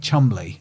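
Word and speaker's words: Cholmondeley: But it's like spelt a bit like like Chumley is Chomundley.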